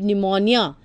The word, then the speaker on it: pneumonia: This was a light epidemic of flu, and there was no danger if you avoided pneumonia. P-N-E-U-M-O-N-I-A. That is pneumonia. Here, P is silent.